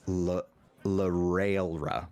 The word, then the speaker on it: Larailra: I'm just realizing the pronunciation is Larailra. Larailra. Railra. I'm going to misspell it because I can. Yeah. Rail. Like Roro. Ruh-roh.